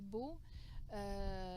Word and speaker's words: Baux: de la vallée des baux c'est très important de le protéger et de le préserver n'oubliez pas les beaux et ça s'écrit baux4 6